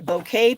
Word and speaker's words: bouquet: paper you're going to get some of the bouquet paper which is super cute in case you